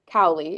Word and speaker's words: Cowley: Um, so your grandfather is a Malcolm Cowi. Is that pronouncing it correctly?